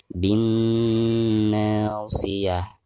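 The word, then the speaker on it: بالناصية: Alif lam tidak dibaca karena dihukumnya alif lam syamsiyah. Jadi dari bacaan bi langsung ditasydidkan ke huruf na ya, sekaligus digunakan karena nun yang bertasid adalah huruf gunnah ya.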